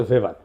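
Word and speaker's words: Max Weber: না আরেকজন দার্শনিক আছে ম্যাক্স ভেভার এটা ওয়েভার বলে অনেকে এটা উচ্চারণ আসলে ভেভার তার একটা লেজিটিমেসি এবং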